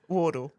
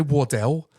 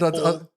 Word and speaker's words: Wardall: Wardall. Wardall. Yeah, I didn't want to say. I was going to say Wardell, No, and it felt really weird. Wardall. all of the hospital wards.